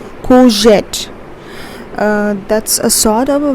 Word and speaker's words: courgette: Courgette. Remember, R is silent over here, so we pronounce this as courgette.